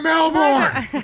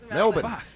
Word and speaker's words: Melbourne: uptight stop talking about Melbourne it's Melbourne Melbourne say it right right Melbourne I don't